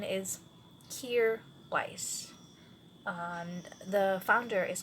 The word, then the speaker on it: Kjaer Weis: Kjaer Weis, and the spelling is kind of off, but it's because of the founder, who's Danish, so it will be